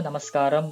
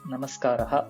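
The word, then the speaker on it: नमस्कारः: பட் சமஸ்கிருதத்துல வந்து நமஸ்காரஹா, அது வந்து ஆண் பாலனத்தை சார்ந்த வார்த்தை. அங்க இம் வர்றது, விசர்கா வர்றதெல்லாம் கொஞ்சம் நோட் பண்ணிக்கோங்க. முதல்ல இருந்து அந்த கரெக்டா அந்த விசர்கா வரைக்கும் ப்ரொனவுன்ஸ் பண்ணணும். நமஸ்கார் இல்ல நமஸ்காரா அது மாதிரி தேவையில்லை.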